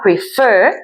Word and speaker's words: prefer: el verbo prefer escuch es un verbo cuya última sílaba prefer es tónica El golpe